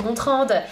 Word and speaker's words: Gontran: c'est Blandine léger bonjour je m'appelle Gontran mais ça se prononce gontrande et quel plaisir de